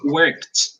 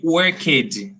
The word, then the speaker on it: worked: yes i don't say where kid okay i don't say where kid the letter g with a g sound i say the letter g i pronounce the letter g as a t sound worked yes t sound worked